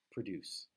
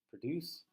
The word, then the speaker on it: produce: But yeah, I think it means produce. The pronunciation is so similar. Uh, produce, produce. But it's slightly different to a native speaker's ear.